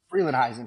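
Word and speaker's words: Frelinghuysen: name I'm a Jewish kid help me out Freeland heisen Freeland heisen Township and you were the mayor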